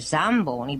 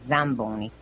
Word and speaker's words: Zamboni: The American might read it Zamboni, but in Italian it's Zamboni. It's not an S, it's a Z.